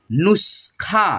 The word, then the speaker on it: नुस्खा: नु देखिए आधा स है और ख में मिला हुआ है तो पढ़ेंगे नुस्खा, ठीक है, नुस्खा।